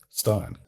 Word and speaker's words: Stein: Like the German beer, Ston.